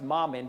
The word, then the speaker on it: Mammen: Actually, it's pronounced Mammon, but it's spelled Mammon, M-A-M-M-E-N, and you can get this on Amazon.